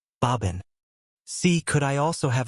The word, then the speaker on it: bourbon: So, the name of this whiskey is bourbon, pronounced in English as bobin.